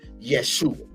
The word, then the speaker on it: Yeshua: is the teachings of the man they call Jesus but we know him the right pronunciation or enunciation as Yeshua.